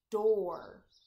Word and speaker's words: door: Next word is door. Duh, or. Here we have the or sound spelled OR, but we do use a double O spelling for door.